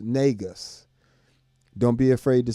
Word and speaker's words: Negus: And if you want to follow me on social media, at the Bass Negus, Negus, and that is pronounced Negus.